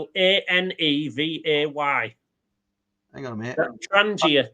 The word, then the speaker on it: Trangia: Trangia. It's a G, not an S. Trangia. Oh, sorry. Hang on. Back to the boring board. So it's Trangia. Trangis. GIA rather.